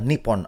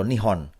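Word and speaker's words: 日本: di dalam bahasa Jepang nama negara itu adalah nippon atau nihon dua pengucapan alternatif untuk nomenklatur yang mengekspresikan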